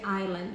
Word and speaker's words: island: Tulisannya Island tapi bacanya island.